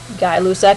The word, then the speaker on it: Gay-Lussac: I know it looks like Gay-Lussac. It's Gay-Lussac is the way it's pronounced.